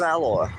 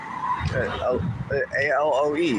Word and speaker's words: aloe: tried saying the word I thought it was alloy. A l o e. Yeah. I don't know how to pronounce that word properly. Aloe. Aloe vera. Alo. There it is. Aloe vera. I have to say the second word to be able to say the first word.